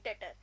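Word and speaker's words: debtor: क्या बन गई है डेटर अब यहां पे जो बी है वो साइलेंट है इसलिए हम बी को नहीं पढ़ के सीधा टी से शुरू कर देंगे मतलब डेटर बोलेंगे उसे और जो हमारा ऋण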